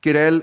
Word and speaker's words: Querelle: I think there's a worthy argument to be made that Querelle, sorry, that's how it's pronounced apparently, right? So Querelle is the sort of